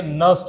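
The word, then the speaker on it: Nernst: इसको कोई नर ननस्ट नहीं पढ़ेगा। ठीक है? नस्ट equation. Okay? N silent रहता है नस्ट इक्वेशन।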